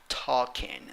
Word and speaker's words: talking: pronounce the word talking talking the first syllable is the one that is stressed and as you can see you are not going to pronounce a letter l six letters five sounds